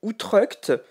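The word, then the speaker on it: Utrecht: juste un pouvoir alors pour la prononciation je m'étais trompé à l'époque ça se dit outrec et donc celle-ci tu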